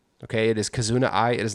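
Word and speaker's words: Kizuna AI: Okay, it is Kazuna I. It is not as it is not Kazuna AI. It is pronounced Kazuna.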